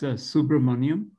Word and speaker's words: Subramaniam: It's Subramanian.